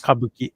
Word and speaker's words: Kabuki: Kabuki clothes? Kabuki.